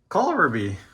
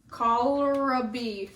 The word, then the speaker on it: Kohlrabi: How do you pronounce this? This thing. Let me see. Oh, that's easy. Kohlrabi. Kohlrabi. Yeah. Kohlrabi.